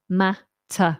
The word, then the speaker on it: matter: wrong what's the matter matter remember e r endings are usually replaced with a schw mat mat not mate in Argentina they drink